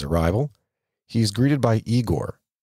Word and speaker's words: Igor: he is greeted by Igor pronounced igore a hunchbacked servant and